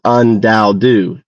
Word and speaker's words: UnDaoDu: My name is Undalu.